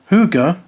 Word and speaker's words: hygge: Hygge, pronounced "hoo-ga", is maybe, probably, one of the most overhyped trends to ever exist.